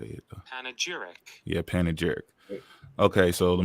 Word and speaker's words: panegyric: black and contrasted with white, be slid into panegyric.